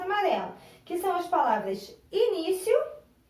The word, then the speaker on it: início: Aonde que está o acento da palavra início? Ó. I-ni-ci-o. Está no ni.